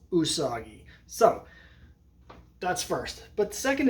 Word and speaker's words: Usagi: all I never knew how you're supposed to pronounce it I was like is it usaji or is it you soggy and it turns out it's neither of those